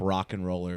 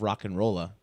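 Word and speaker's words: RocknRolla: many syllables yeah but you have to leave off the ER at the end of rock and rolla there's a there's a soft a it's not a hard R there's alliteration though it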